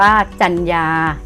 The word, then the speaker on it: จรรยา: ไป คำ ที่ สอง จรรยา อ่าน ว่า จรรยา เห็น ไหม คะ คำ ว่า จันทร์ รอ ตัว แรก เป็น ไม้ หัน อา กาด รอ ตัว ที่ 2 เป็น หนู สะกด แม่ กน นั้น จรรยา ต่อ ไป